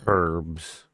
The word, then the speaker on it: herbs: Herbs or herbs? It's herbs. Herb.